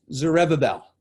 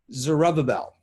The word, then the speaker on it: Zerubbabel: fun to say uh it's often mispronounced and and even i struggle with it his name was zereva bell zerubbabel okay definitely name your kids names like that from the old testament it's a rub-a-bell under the leadership of